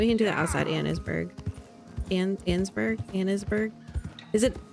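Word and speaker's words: Annesburg: It's Ansburg.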